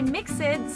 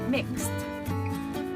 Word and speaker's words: mixed: word save mixed mixed don't say mixes they mixed for the last time say mixed great shop next words laughed